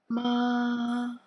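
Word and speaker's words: mā: Yang pertama, nada pertama lurus tuh tanda di atas A-nya. Ma lurus seperti panah ini.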